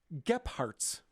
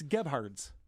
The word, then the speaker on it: Gebhardt's: So there's no P and there's no T in Gebhardt's. Listen to how he pronounces this. Gephardt's. Gephardt's. It's Gebhardt's.